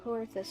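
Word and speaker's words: Coerthas: The Machinist West and touch corus from there orus I always get the O there is no o when you pronounce it guess there kind of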